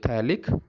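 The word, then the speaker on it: phthalic: तो थैलिक anhydride, P is silent air.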